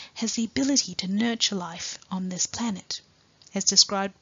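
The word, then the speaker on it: 立: On the left, the first Chinese character is pronounced as Li, and it takes the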